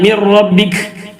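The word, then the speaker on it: مِنْ رَبِّكَ: നൂന് ഒഴിവാക്കിയ പോലെ പറയുക. അപ്പൊ അടുത്ത അക്ഷരം കട്ടി കൂടുന്നു മാത്രം. അടുത്ത ശരിക്കും അങ്ങനെയല്ല. നൂനിനെ റായിലേക്ക് കൊടുക്കുന്നു അല്ലെങ്കിൽ ലാമിലേക്ക് കൊടുക്കുന്നു, ലാമ് കട്ടി കൂടുന്നു, നൂന് ഉച്ചാരണത്തിൽ വരുന്നില്ല. ആ രൂപത്തിലാണ് പറയുന്നത്. നൂനെ അവിടെ ഉള്ളത് പോലെ വരാനേ പാടില്ല.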